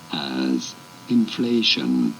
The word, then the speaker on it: inflation: You do want to stress on the second syllable. Both British and American pronunciations are rather similar here. As inflation.